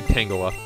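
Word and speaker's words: Tangela: want to pronounce it I think I say tangula cuz like Tangled not like the Disney movie but like the thing that happens to hair and Vines come on hit guy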